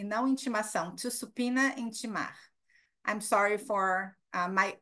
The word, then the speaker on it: subpoena: Subpoena. Even Americans, when they look at this word, they have a tough time pronouncing it. Subpoena, no B sound.